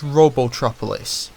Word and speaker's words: Robotropolis: buy princess Sally's Christmas presents okay one it's robotropolis Sonic had the same voice actor in sat